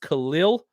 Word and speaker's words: Khalil: Let's talk about, it's pronounced Khalil.